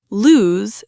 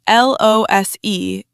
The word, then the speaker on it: lose: Notice the Z sound at the end, not an S sound.